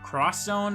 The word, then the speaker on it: Project X Zone: Sorry, is it Project Cross Zone or X Zone? I think it's Cross Zone, actually. But it's spelt with an X.